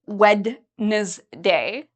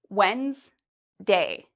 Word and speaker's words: Wednesday: days of the week we don't say wedes day we say Wednesday so it's actually two syllable syllables Wednesday Wednesday so actually this e you can even take out Wednesday okay uh also